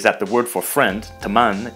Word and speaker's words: teman: And one more small difference we can see is that the word for friend, teman, is pronounced more like temen.